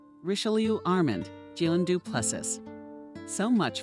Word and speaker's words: Richelieu: Besides, his surname should be pronounced differently. Richelieu Armand, Gilles Duplessis.